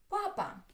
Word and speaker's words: папа: Папа. Папа. Папа. Two syllables. The first one is stressed.